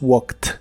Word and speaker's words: walked: Cuando les agregas ed para hacerlos en pasado, esta terminación ed la pronuncias como si fuera una T. Por ejemplo, el verbo walk,